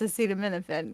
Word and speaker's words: acetaminophen: people can't even still pronounce it but it's pronounced acetaminophen yeah so I said to the 911 dispatcher